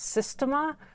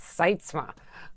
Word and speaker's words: Seitzma: the way it looks, I thought it was Systema, but and I was telling my husband this, and he was like, oh, that's Seitzma.